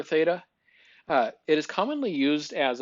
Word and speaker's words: theta: 0 with a line through it it's actually pronounced theta it is the Greek letter theta it is commonly used as a variable name